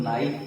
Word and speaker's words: knife: तो के बाद यदि आप एन को रख देंगे तो के साइलेंट हो जाएगा। जैसे KNIFE, इसको हम लोग नाइफ पढ़ते हैं, और नाइफ मतलब छुरी होता है।